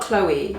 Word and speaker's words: Chlo: It's spelled Chloe without the E. Chlo.